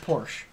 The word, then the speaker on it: Porsche: referring to the other place just remember it's pronounced Porsche it's pronounced Porsche Daniel stop it stop it don't trigger me